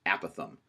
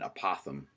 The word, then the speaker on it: apothem: a NAPA thumb is it's pronounced a Pathan you might be inclined to call it an apothem but we'll be calling it an a Pathan will also learn what